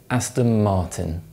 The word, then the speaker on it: Aston Martin: The sports car manufacturer Aston Martin is actually pronounced Aston Martin.